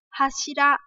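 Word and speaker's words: 柱: À, từ trụ này thì chúng ta có cái chữ cột trong nhà ấy, thì chúng ta sẽ đọc là hashira.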